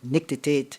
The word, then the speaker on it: nictitate: She has a condition which makes her nictitate involuntarily. Is it a verb? Yes. Am I pronouncing the word correctly?